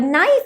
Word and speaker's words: knife: k is silent similarly in the word knife as well k is silent l is silent in